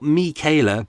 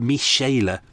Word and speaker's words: Michaela: And then, not Michaela, but Michaela. German pronunciation in brackets written there.